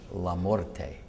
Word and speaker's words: LaMorte: church so I then pronounced the name the way it should be pronounced namely lorte at which point the